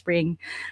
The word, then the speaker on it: Pring: I tried really hard to pronounce yung Pring with a really hard R, pero that's the best Yes.